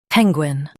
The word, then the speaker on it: penguin: Stress pen and keep Gwyn light.